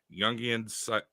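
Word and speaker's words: Jung: go it's hold on youngan like Carl Young I know it's a j but that's how you pronounce it psychology and Analysis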